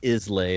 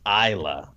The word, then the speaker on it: Islay: Yeah, it looks like it's Islay, but it's Isla. Islay. It's pronounced Isla.